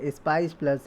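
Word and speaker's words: SPICe+: deployed a new web form christian spice plus pronounced s-p-i-c-e-p-l-u-s spice plus a spice plus is an integrated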